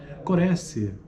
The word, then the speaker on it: corresse: Corresse, voce del verbo correre, si pronuncia con la E chiusa, corresse. Corresse vuol del verbo corrigere, che si pronuncia con la E aperta.